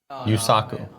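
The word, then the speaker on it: Yusaku: here's your audition for yes suku by zawa yuusaku yuusaku excuse me he's trying to figure it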